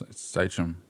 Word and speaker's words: Sachém: to honor that and just tell people, no, it's Sachém. And so that's what it's been for the past 5-6 years now. Yeah. Still still spelt the same way phonetically. Okay. Just different, yeah. Right, with the accent on With the accent on the top, yeah.